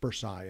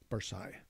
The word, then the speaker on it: bursae: And it'll make it into the bursas in your back, bursae, actually. It'll make it to the facet joints. I was wondering what the plural was of bursa. B-U-R-S-A-E-S-A-E. Yeah. Bursae.